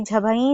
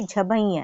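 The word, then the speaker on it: झभञ्: फिर आगे जो झबैया है उसको बोलते हैं, बहुत सारे बच्चों को मैंने सुना है बोलते हैं झबई। तो ये झभई नहीं है, ये झभैया है, झभैया।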